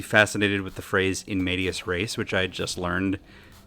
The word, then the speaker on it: in medias res: spelled phonetically, which means I spelled it M-A-D-I-A-S as opposed to M-E-D. It's in medias, like in the middle of things, and I just didn't put that together. So Medias Res was my like online